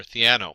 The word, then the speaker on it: Theano: And the first thing you'll notice is that Keras runs on top of either TensorFlow, CNTK, and I think it's pronounced Thano or Theano.